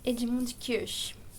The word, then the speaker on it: Edmund Kirsch: Que pronuncia Edmund Kirsch.